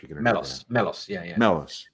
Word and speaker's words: Melos: Melos. Is that how I pronounce it? Yep. Just MELOS.